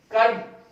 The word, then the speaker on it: curb: डिस्ट्रेशन हो गया, कर्ब CURB में आर थोड़ा सा साइलेंट रहेगा, यानी रोक लगाना किसी चीज को, उसको अपन बोलेंगे कर्ब, तो वो ये एक तरीके